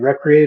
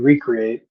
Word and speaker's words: recreate: And as I like to tell people, recreation can be pronounced two ways. You can recreate or you can recreate, and we're recreating the